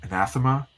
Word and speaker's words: anathema: And this word is anathema. Is that how you pronounce it? That's right.